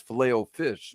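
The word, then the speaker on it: Filet-O-Fish: I was saying fish file. I looked at I was like, "No, it's fileo fish."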